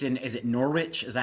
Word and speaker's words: Norwich: And it's in is it Norwich? Is that how you pronounce it? In England? Norwich. Norwich.